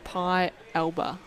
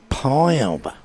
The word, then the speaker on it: Pialba: It's pronounced Pialba. Pialba.